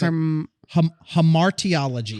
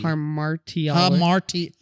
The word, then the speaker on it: hamartiology: I feel like you're kind of swallowing it. It's Hamartiology. Hamartiology. There's only one R. Hamartiology. Yeah, I could tell you're kind of like swallowing some of the syllables in there because you're hamartiology.